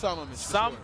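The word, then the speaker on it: Sammamish: how do you pronounce the city he's from? 36. 36. I'm gonna give it a try. I'm gonna say Samamish. Yeah, it's Samamish. Samamish. It's Samamish, for sure.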